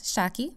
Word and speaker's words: Shaki: Yes, Shaki, the one that rhymes with hockey and is short for Shakira, like the singer.